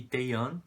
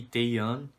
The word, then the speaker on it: Taehyun: É Bongyu e Taeyeon. São os nomes que eu tava pronunciando errado. Eu sempre lembrava do Taehan e eu falava Taehan achando que era a mesma pronúncia, mas é Taeyeon e Bongyu.